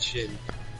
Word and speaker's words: Shen: Shoot, Shin. Yeah, Shin. I said it right. Shin. Hey. Yeah, S-H-E-N, yeah.